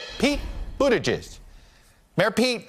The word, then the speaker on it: Buttigieg: Just pronounce it for everybody so they can hear you say it. Buttigieg.